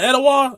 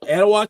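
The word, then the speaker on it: Etowah: Ain't that uh Edawa and Talladega like north south the border.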